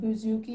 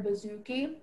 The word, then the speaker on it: bouzouki: Yes, it's pronounced bouzouki or bouzouki.